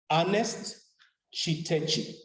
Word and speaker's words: Chitechi: Ernest Chitechi. Ernest Chitechi. It's written down exactly as it's pronounced. It's spelled exactly as pronounced.